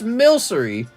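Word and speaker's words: Milcery: Oh, how to pronounce Milkree. Hold on. Milsy. It's Milsery.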